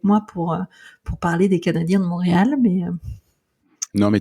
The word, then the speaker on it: Canadien: le Canadien de Montréal n'allez surtout pas l'appeler les Canadians c'est bien le Canadien de Montréal et même les anglophones le prononcent tel que d'ailleurs quand vous